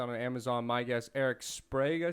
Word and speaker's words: Sprague: I want to make sure it's Erik Sprague. Sprague.